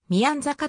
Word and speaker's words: 宮坂: 村字宮之阪地元ではみやざかと発音されていたようで